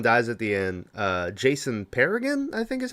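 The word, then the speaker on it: Pargin: author of John Dies at the End, Jason Paragon, I think is how you pronounce his last name. Yeah, Pargan, Jason Pargan.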